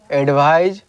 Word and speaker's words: advise: तो देखिए यहाँ पे दो चीज़ें लिखा हुआ है, एडवाइज और एडवाइस। एडवाइज और एडवाइस, ठीक है।